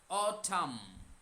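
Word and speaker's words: autumn: অঠাম উচ্চারণ অঠাম। এম এর পরে এন আছে ওই এনটা সাইলেন্ট হয়ে যায়। দুটো কনসোনেন্ট পরপর থাকলে উচ্চারণ হয় না। পরেরটা এটা খেয়াল রাখবেন। তাহলে এম পর্যন্তই উচ্চারণ করবেন অঠাম।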